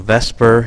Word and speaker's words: VSEPR: said is based on Vesper Theory a Vesper is how we pronounce VSEPR and VSEPR stands for